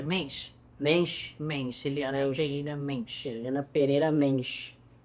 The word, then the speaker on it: Mensch: Como é que pronuncia? Mensch.